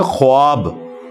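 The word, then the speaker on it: خواب: हम लिखते हैं ना खवाब खा वाव अलिफ और बा खवाब लिखा जाता है लेकिन यह पढ़ने में ख्वाब होता है यानी वाव साइलेंट है ये पढ़ा कैसे जाएगा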